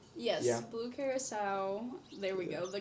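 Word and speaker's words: Blue Curaçao: Blue curacao.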